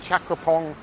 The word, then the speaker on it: Chakrabongse: Anyway, this is Chakraphong Road, and the reason why I pronounce it Chakraphong and not Chakrabongse, which is what the road sign says, is because it's something I can't explain. It's just one of those Thai place names that is spelt differently from the